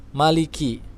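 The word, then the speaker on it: مالك: harus diperhatikan disini adalah Maliki khas disitu adalah huruf Kaf ingat huruf Kaf arus ada aliran udara yang keluar sedikit ya tapi tidak berhenti dan berlebihan meliki Ki seperti itu memiliki yaumiddin nah disini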